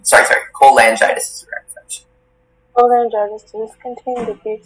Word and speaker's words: cholangitis: Cholangitis, does this contain the Greek suffix itis, meaning inflammation?